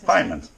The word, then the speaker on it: Pyment: Pyment.